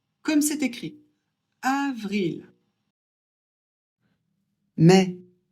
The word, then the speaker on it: mai: Avril mai. A et I, ça fait e. Donc on prononce mai.